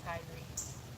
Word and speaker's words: Kyrie: Wait, is that Kai? Is that Kai? Oh, maybe? Am I pronouncing her name wrong then? Kyrie.